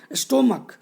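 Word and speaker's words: stomach: स्टोमक, यहाँ ch को pronunciate हम लोग का से कर रहे हैं, है ना, और इसमें सिर्फ और सिर्फ s लगा रहे हैं।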